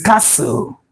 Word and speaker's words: castle: This option B, the pronunciation of this word is castle, castle, castle. So we have this sound here, the C sound here, letter S then enclosed with the sound symbol, the slash. The T there is silent.